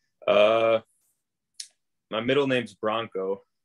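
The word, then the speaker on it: Branko: uh my middle name's bronco it's spelled b-r-a-n-k-o but it's pronounced bronco it's a serbian name a lot of people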